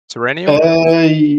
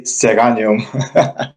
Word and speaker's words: Serenium: Have I pronounced the nickname right? Serenium? Yes, but I'm from Bulgaria, so I say Seranium.